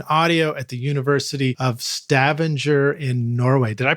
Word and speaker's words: Stavanger: graduate education in audio at the University of Stavanger in Norway. Did I pronounce that right? Stavanger.